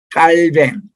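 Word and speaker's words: Calvin: 우리 영업에서는 칼빈이라고 알려졌지만 그분이 본래 태어난 나라의 발음을 하자고 해서 깔뱅 혹은 칼뱅이라는이 용어를 이수영 교수님이 와서 붐을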